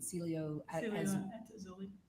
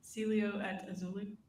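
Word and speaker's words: Cielo Azul: Celio at Azuli. Say it one more time. Celio at Azuli.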